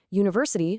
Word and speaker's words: university: Conversely, university starts with a vowel letter. Sure, but it sounds like a consonant Y, so it gets a university.